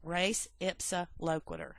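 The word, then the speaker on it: res ipsa loquitur: again let's speak English even though we're saying race ipsa locator that's how you pronounce that term perfect example and you need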